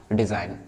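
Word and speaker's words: design: डिजाइन.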